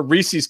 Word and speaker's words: Reese's: cracker milk chocolate or Reese's Cup Oh Reese's it does not rhyme with feces you know my friend